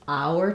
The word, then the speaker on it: our: covering this um so typically if I'm stressing on the word our um for example it's our turn then I'm going to use the full our pronunciation which sounds the same as um it's our turn in an hour um you can notice as I say our hour that's a trip Fong I'm almost doing kind